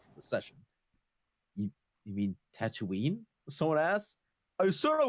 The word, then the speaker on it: Tatooine: toonie goddammit says yes he pronounces it as tatuni not tatooine and between this and